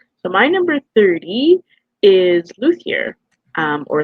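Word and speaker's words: Luthier: So, my number 30 is Luier. Um or Luier. Um some people will say that it's pronounced differently, but my wife tells me it's Luier, so I'm going to pronounce it properly.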